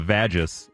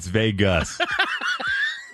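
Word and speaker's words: vagus: my uh pronunciation of vagis uh Vegas well so your mom was firing up her Vegas nerve not her vagis nerve and I apolog tomato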